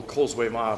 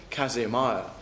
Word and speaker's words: Causeway Mire: If you drive across Caithness and what we call the Causeway Mire, pronounced locally Casey Mire, you'll see umpteen empty wee houses either side in the heather.